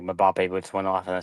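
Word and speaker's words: Mbappé: half and then like Mbappe boots went off in the second half. But it's pronounced Mbappe.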